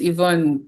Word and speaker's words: Ivonne: This is Ivonne. Hope I I pronounced your name right cuz I had that wrong with No problem.